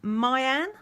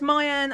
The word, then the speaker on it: Meian: from a store called i'd like to say it's pronounced mayan on aliexpress i did